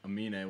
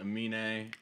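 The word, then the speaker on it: Aminé: I'm pretty sure you pronounce it Amine.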